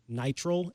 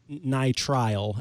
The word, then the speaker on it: nitrile: I get them in purple, but now I'm being told that it's nitrile as opposed to nitrile. But maybe I'm pronouncing it the British way, where they sort of cut out some of the pronunciation.